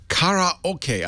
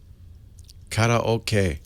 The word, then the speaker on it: karaoke: I don't think are there any English words that don't have emphasis on one syllable or another. I think not. Karaoke. I have to turn myself into a robot to say it without any emphasis. Karaoke.